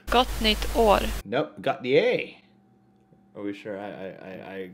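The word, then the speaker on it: Gott nytt år: And you pronounce it Gotnie. Gotnit or. Gotnit or. Nope, Gotnie.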